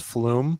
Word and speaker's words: Flum: So like as an example, have you heard of I think it's pronounced flume or flum.